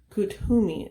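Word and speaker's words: Kuthumi: drink okay and then number 26 ascended master kuttumi is how you pronounce it i looked it up akutumi and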